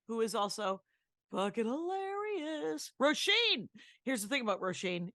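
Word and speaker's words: Róisín: Roisin is like raisin, but with an O instead of an A. Roisin.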